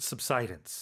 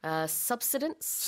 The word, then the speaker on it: subsidence: And it's pronounced subsidence. Yeah, I think you can maybe say subsidence or, okay. as well. But I think subsidence, as you said, that is the more common way of saying this word.